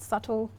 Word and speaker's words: subtle: silent so for example we talked about subtle yeah an island so the B and the S is silent there so what I what